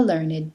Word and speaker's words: learned: The following ed words used as adjectives are pronounced with id: aged, dogged, ragged, blessed, learned, wicked, crooked, naked, wretched.